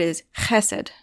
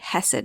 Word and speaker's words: chesed: hurt its reputation because you have to do the whole throat clearing thing the word isid you can say hassid if you want with an H hassid but if you